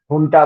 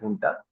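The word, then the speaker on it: junta: साथ अथॉरिटी के साथ जिसको टा बोलते हैं य right it ए जे यू एनटी बट य प्रोनाउंस इट टा उनके साथ वो किया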